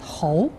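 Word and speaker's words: 猴: So monkey in Chinese language pronounced as hou.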